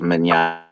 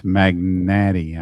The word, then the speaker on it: Mignante: That says Mignante. It's Magnati, I guess.